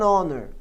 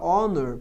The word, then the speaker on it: honor: É claro que as palavras que nascem dessas também têm o H mudo. Por exemplo, a palavra honor pode gerar a palavra honorável, honorable, daí o H continua mudo.